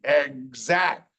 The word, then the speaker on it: exact: See, here it sounds like a GZ, exact, not exact, it's exact. Crazy language, I didn't write it.